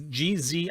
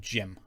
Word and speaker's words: Gzim: It's Gzim. I'm going to call it Jim because I call Zeb Jeb, so I might as well call him Jim.